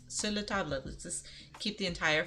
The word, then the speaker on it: Sur La Table: pronunciation and they say Sur La Table and it just it makes me cringe because you're supposed to say it like the French it's Silla tablet let's just keep the